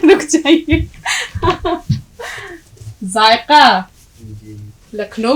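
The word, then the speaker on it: ذائقہ: अब यहाँ मामला तलफ्फुज का भी है, ये जायका नहीं है, जायका। ये तलफ्फुज या इसका उच्चारण आपको ठीक रखना है। जायका आवाज जड की निकालेंगे, जाल की, और काफ की आवाज हलक से निकालेंगे, जायका।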